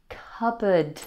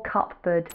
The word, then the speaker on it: cupboard: Then we had cupboard. I meant to tell you about that. It was me. I broke your cupboard. The P in cupboard is silent.